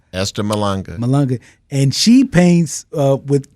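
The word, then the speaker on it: Esther Mahlangu: I want to make sure I'm pronouncing Dr. Malanga. Am I saying? Esther Malanga.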